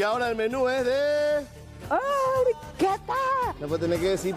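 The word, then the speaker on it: porchetta: Porqueta. Porqueta. ¿Sí? Por, se escribe porcheta. Porcheta. ¿Eh? Pero se lee porqueta.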